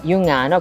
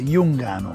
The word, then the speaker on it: Giungano: Noi lo chiamiamo così, in modo dialettale diciamo sempre Jungano.